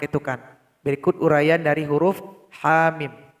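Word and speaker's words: حم: Berikut uraian dari huruf ha mim. Ha kalau diurai ada alif di belakangnya. Mim ada mim sukun di belakangnya.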